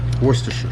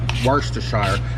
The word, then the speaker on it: Worcestershire: Sometimes I'll put soy sauce in here, but today I'm going to put Worcestershire sauce. Worcestershire. Actually, it's Worcestershire. Yeah, how do you all pronounce it?